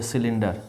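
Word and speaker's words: cylinder: अब देखो सी के बाद यहाँ पे वाई है, इसका उच्चारण क्या हो रहा है, साइकिल, CYCLE। सी वाई को हम क्या बोल रहे हैं, सा। यहाँ पे सिलेंडर, CY को यहाँ हम क्या बोल रहे हैं, सा।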